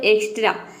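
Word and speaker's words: extra: तो देखिए यदि किसी वर्ड के बीच में एक्स प्लस कॉन्सोनेंट हो, यानी कि एक्स के बाद कॉन्सोनेंट हो, तो वहाँ पे एक्स को हम आधा क और स प्रोनाउंस करते हैं।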